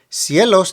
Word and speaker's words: cielos: Cielos needs to emphasize the E.